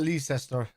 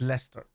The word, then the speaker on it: Leicester: I pronounce it Leicester. It's not Leicester. It's Leicester.